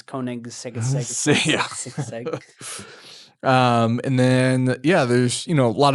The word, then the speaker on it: Koenigsegg: Koenigsegg Agera RS, which was very cool. You pronounced it wrong. It's Koenigsegg.